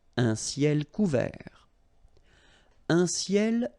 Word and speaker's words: couvert: Un ciel couvert, final T not pronounced. Un ciel couvert.